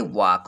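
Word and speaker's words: walk: यहाँ वाल्क लिखा है, लेकिन इसको पढ़ेंगे वाक।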